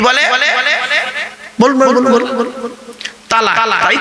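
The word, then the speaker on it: طلاق: শব্দটা তালাক বলবেন না, শব্দটা তালাক না। এইটাই তো ভুল হয় বাবা। এই জন্য আমি বলেছি বাবা, আলেমের ওয়াজ শুনবেন। চলো শব্দটা তালাক নয়, শব্দটা হলো তলাক।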